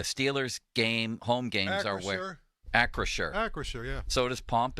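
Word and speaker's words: Acrisure: so do I but we've clearly been phonetically corrected here it says in parentheses Acra Shore Acra Shore Stadium right limits that's what it says phonetically by sales maybe sales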